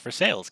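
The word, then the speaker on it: Versailles: fores but the city in Kentucky is correctly pronounced for sales because that's how the people there say it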